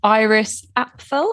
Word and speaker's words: Iris Apfel: My fashion story is that H&M have just launched their collab with Iris Apfel.